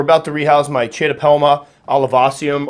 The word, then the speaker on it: olivaceum: All right, so we're about to rehouse my Chaetopelma olivaceum or olivaceum. I've heard it pronounced several different ways, but that's what I'm going with.